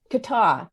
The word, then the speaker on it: Kattau: Kattau.